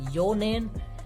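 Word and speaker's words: 四年: So these would be pronounced as yonen.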